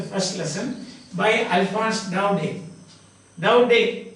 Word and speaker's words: Daudet: Daudet, E-T is not pronounced, Daudet. That's all, Daudet. The French, most of the time you will find that the last syllable is silent, Daudet.